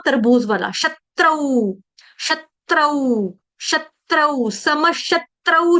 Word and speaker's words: समशत्रौ: समशत्रौ च मित्रे च, है ना, देखो श के ऊपर आघात, क्यों? क्योंकि यहाँ पे त्र त्रिशूल वाला है। मी के ऊपर आघात, क्यों? क्योंकि यहाँ पे त्र त्रिशूल वाला। ठीक है, तो दोनों पे आधे त का आघात आ जाएगा, त आधा तरबूज वाला।